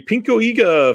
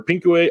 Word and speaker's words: pinku: 1971 this is a pinka film or pinku AA sorry it's the proper way to say that um this is